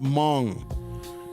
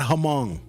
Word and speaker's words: Hmong: And it's pronounced Hmong, not Hmong. Actually, it's Hmong. Hmong, you gotta say it right.